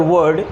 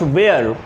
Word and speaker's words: were: मैं पहले भी कई वीडियोज़ में ये बता चुका हूँ कि the pronunciation of this particular word is नॉट वेयर, it should be वर.